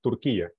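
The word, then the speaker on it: Türkiye: I don't know yeah the pron the pronunciation is like in Spanish turkia that's how you say okay okay teacher okay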